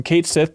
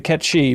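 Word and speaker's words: Cait Sith: from ays to aith I'm happy changing from Kate Sith to KET shei but it is interesting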